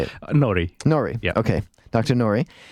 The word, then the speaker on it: Nori: Is it Nori or Nouri? Yeah, you can say it both ways. Well, how do you say it? Nori.